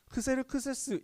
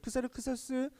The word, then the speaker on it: 크세르크세스: 나와있습니다 이름 좀 힘들죠 크세르크세스 잉 금 크세르크세스 s1 쌩과일 생각 그 정도 되요 그래서 이름은 뭐 그 그리스식 발음입니다 크세르크세스 라는 발음은 그래서요 이름의